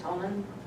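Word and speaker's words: Honnen: Have they talked to you, council members, about the, is that pronounced Honan? Yeah, so my understanding with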